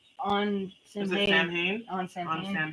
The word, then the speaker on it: Samhain: Sam Hain?